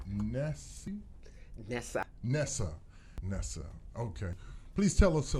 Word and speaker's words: Nesa: because I should have asked you the proper pronunciation of your first name I would have said nasty Nessa Nessa Nessa okay please tell us a little bit about